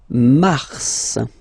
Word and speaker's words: mars: So in a way it's an exception because normally final S is not pronounced in French, okay? We've got some exceptions, and this one is one of them. So mars, pronounce the final S, mars, okay?